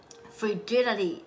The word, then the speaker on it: frigidity: What is frigidity? I‘m going to talk about this Three to four persons had asked about this question Yes, it is frigidity frigidity fruh-ji-duh-tee My pronunciation might not sound like a native speaker